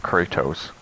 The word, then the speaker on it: Kratos: That was a weird pronunciation of Kratos. Really hit the T on that one. Kratos. I mean, either or. Kratos, whatever.